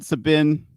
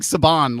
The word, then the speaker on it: Sabin: They're working on Sabin. I keep wanting to say it like Saban.